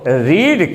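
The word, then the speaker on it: read: है वहां पर तुमको रीड का थर्ड फॉर्म नहीं बताना पड़ेगा रेड स्पेलिंग तीनों की एक है लेकिन बोलने में उसको रेड पढ़ा जाता है रीड तुमसे कोई पूछता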